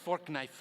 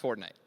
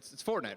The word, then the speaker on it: Fortnite: Did you say fork knife? It's actually pronounced Fortnite. No, I don't think so. No, but believe me, definitely, I know. It's Fortnite, right, guys? It's Fortnite. Yeah.